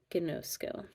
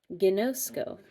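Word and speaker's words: γινώσκω: Gno has the accent on the no, so you gotta know because you know. I know, gnosko.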